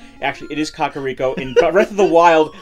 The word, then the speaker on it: Kakariko: It's Kakairiko. Actually, it is Kakariko. In Breath of the Wild, they pronounce they say it.